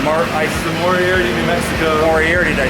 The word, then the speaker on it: Moriarty: Moriarty, did I say it right? Moriarty, yeah.